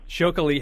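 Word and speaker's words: Txakoli: delicious youa Alaba wine shok have to spell that for us that's a fun one yeah we spell it TX a t k o Ali right ch ch ch okay and well you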